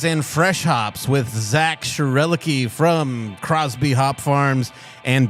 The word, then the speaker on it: Schroerlucke: And is that a correct pronunciation of your last name? It is Schroerlucke, but I was really admiring the joke of we are sure are lucky to have Zak Schroerlucke here.